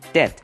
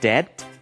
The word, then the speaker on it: debt: 这里我们来学 debt 债务的这个用法。首先注意它的发音 debt B 不发音 debt。如果欠人家钱 Are you in debt？